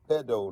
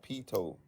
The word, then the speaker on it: pedo: It's pedo, not peto.